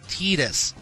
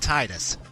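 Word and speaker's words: Tidus: there yeah see folks it's pronounced Titus not Titus Titus and yes we will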